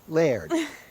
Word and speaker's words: Laird: Laird? Like lasagna? Lasagna? No, Laird. Laird. Laird. that right? Yeah, one syllable, Laird.